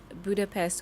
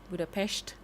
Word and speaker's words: Budapest: I think I was way too old when I realized that Budapest was not said Budapest but Budapestt now. Yeah, that est.